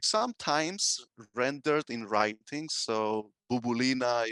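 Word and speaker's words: Μπουμπουλίνα: So Bubulina is pronounced as Bumbulina in Cypriot Greek, and video club would be pronounced as video club in Cypriot Greek.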